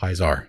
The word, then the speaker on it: Pisar: Just chop good off the end.